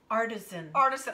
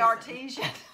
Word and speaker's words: artisan: Artisan. I won't say artesian, but it's artisan powder.